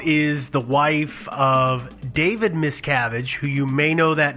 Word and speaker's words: Miscavige: not you may not you might not recognize it because that's not how a lot of people pronounce it too yeah it's miskovich I've seen or I've heard